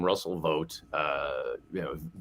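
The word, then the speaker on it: Vought: Um, yeah, but certainly not enough people know the name Russell Vote. Uh, you know, V O U G HT, another pronunciation of O GT.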